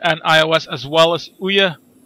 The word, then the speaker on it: Ouya: It's made for mobile devices, I think, both Android and iOS, as well as Ouya. Ouya. That's how you pronounce it.